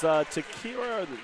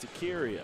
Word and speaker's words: Takiria: That was Takira Robinson. Takiria. You like the way you pronounce that? Yes, Takiria. Takiria.